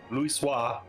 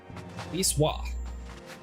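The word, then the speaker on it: Louisoix: Luis Wisah. Luis Wisah. How do you know this? Cuz it's French.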